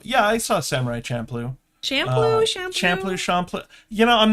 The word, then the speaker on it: Champloo: Champloo. You know, I'm not sure how to pronounce it. I always heard Champloo. Champuru? That's another one.